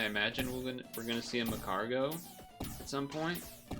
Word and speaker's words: Magcargo: we're gonna see a Macargo at some point. I always get that thing's name wrong. Magcargo? Marcargo? I think it's Magcargo, like magma.